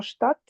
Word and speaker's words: Stadt: D et T, comme dans Stadt, bah, Ouais. on prononce que le T.